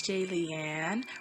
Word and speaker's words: Jaylian: them again hey it's j leanne rhymes with alien like if you're a fan comment and subscribe hello my name is jaylian and today's video is